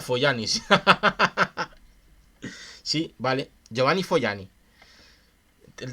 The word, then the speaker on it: Fogliani: Se pronuncia Foglianis.